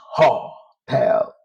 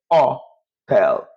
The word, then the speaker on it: hotel: In Spanish, you don't pronounce hotel. No, you say hotel. That means H in Spanish is silent.